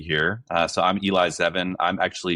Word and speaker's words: Zevin: Mark Typton and uh Eli Zean. I hope I pronounced your name right.